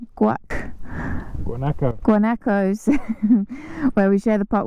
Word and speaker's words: guanacos: share it with um I keep pronouncing the name wrong guac guano guanacos where we share the park with guacos and